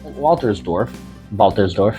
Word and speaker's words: Waltersdorf: One problem with this being that far out, it's in the town of Waltersdorf in German. My pronunciation is probably still not correct, but that W is pronounced like a V.